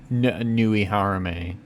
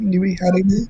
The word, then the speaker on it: Nui Harime: I don't know about you guys, but or I don't know anything about Nui Harame, but It's pronounced Nui Harime, like Nui French.